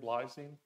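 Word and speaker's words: Blaising: quoted Craig blazing BL how you say his name blazing blazing yeah just like the word Blaze he said quote the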